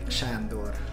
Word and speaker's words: Sandor: video coming to you Sandor that's fine that's fine it hang are you actually yeah how did the actual pronunciation of the unit it's like Shandor but I'm okay with